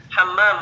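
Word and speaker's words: حمّام: kamar mandi kamar mandi hammam ada tasydid pada mim pertama ya bacanya harus benar hammam buka ini yang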